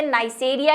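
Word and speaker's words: Neisseria: ठीक है, नाइसेरिया भी लिखा हुआ मिल सकता है, नाइजेरिया भी लिखा हुआ मिल सकता है, वो डिपेंड करता है बुक पे। ठीक है, वैसे नाइसेरिया ही है अगर आप इसकी स्पेलिंग पढ़ेंगे तो।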